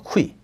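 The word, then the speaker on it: 夔: 이 기자 발음이 쿠입니다. 쿠이.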